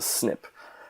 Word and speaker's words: SNP: Fields jargon and lingo that became pronounced as a snip so these were snip